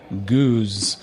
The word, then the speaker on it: gueuze: one more time yeah it's that sheep sounding Dutch not the hard German style of G uh in English it